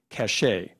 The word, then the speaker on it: cachet: same cachet as acting in a hit movie cachet it's from a French word are there any alternate pronunciations no cash a/c a CH e cachet